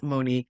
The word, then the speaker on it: Monique: It's one word and it describes Monique love. One word. Unique. Ah unique. It's okay. I love it. I love it. I'll take it. That's it. Happens to rhyme with my name as well.